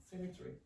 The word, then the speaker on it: cemetery: This is cemetery. No. Cemetery. Yeah. Cemetery. It's not cemetery. Cemetery. Like the every tree.